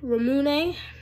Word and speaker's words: ramune: so I got some ramune that's how you pronounce it it looks like you would say run but no so I got this